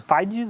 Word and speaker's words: Figes: Do Orlando Figes, é assim que se pronuncia o nome dele, acho eu.